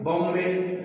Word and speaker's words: bomb: Okay, here sound stops at M.